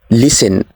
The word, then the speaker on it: listen: as listen or listen the silent letter is T so we say listen not listen next this is right